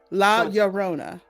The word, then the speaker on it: La Llorona: I say it right La Llorona let's do this okay you go first and then like double L's are yeah La Llorona there you go la Llorona they're rolling